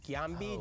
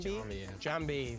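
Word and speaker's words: Giambi: be um Derek Jeter no it was Jason gambi jamb Jambi sorry okay these wavelike contractions of the digestive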